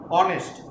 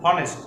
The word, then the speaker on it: honest: And see the next word honest. We don't pronounce honest, we pronounce honest. O. Here the pronunciation of H may silent or may like O.